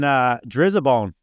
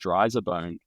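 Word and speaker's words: Driza-Bone: And then Drizzabone. Do people like the old shit? I think it's pronounced Dryzabone. Dryzabone. Okay. I don't know. That's how we pronounce it, but maybe we're doing it wrong.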